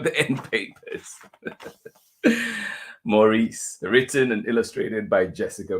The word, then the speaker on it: Maurice: Books of San Francisco did I say Maurice Maurice good luck to me trying to keep the one pronunciation Morris by Jessica Bagley here